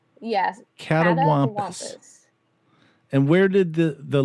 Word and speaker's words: catawampus: looking for so you would how did you pronounce it a cat Wampus yes catawampus and where did the the legend or the